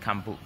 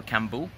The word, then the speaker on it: Kambo: And people like Western people will call it Kambo, or I've heard it called Kambo, but as far as I've read, it's spelled Kambu, and in Spanish that would be pronounced Campu or Kambu. With a B would be Kambu. But I guess it depends how the Amazonians pronounce it.